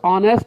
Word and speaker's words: honest: It will be noticed that the words honest here, MA and SST begin with vowel sounds as the initial consonant H is not pronounced, and the letters M and S also begin with vowel sound.